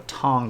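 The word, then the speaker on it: Tang: the ruling dynasty in China is called the tong Dynasty uh and it's spelled tank like the orange drink I just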